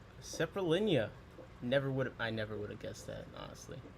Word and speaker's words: Saprolegnia: Pronounce. Okay. Saprolegnia. Saprolegnia.